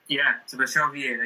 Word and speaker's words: Sebastião Vieira: So Sebastião Vieira, did I pronounce this right? Yeah, Sebastião Vieira, yeah.